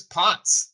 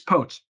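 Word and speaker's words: Potts: be pronouncing that correctly it's potes potes all right potes I I wanted to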